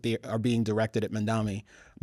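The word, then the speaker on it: Mamdani: mom and Donnie Hathaway. I think of Donnie Osman, but you can be That's good.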